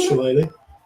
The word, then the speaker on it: shillelagh: I think it's shillelagh.